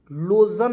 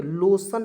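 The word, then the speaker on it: lotion: टी आई ओ एन इसे पढ़ेंगे दोस्तों लोशन लोजन नहीं पढ़ेंगे लोशन पढ़ते हैं दोस्तों ठीक है चलिए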